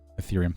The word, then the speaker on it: Ethereum: don't have any earth etherium earth i don't pronounce it but i don't have any of it ethereum thank you yeah that would be does uh